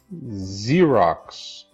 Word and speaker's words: Xerox: Okay, the Z sound, as in zebra, zoo, or even Xerox. Okay, this is pronounced with a Z.